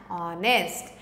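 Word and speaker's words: honest: आर so more examples are honour and ऑनेस्ट तो दोनों में भी एच नहीं बोलना है एच इज साइलेंट इसलिए जैसा साउंड है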